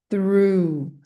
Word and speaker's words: through: Então, essa palavra through, ou seja, que que esse J e esse H estão fazendo aqui no final dessa palavra? Vários nadas. Três sonzinhos apenas.